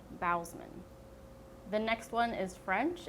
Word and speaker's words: Bousman: His name is Darren Lynn BOUSMAN, not BOUSMAN, BOUSMAN.